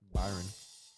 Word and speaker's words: Bayern: How do you say it? Bayern. Byron.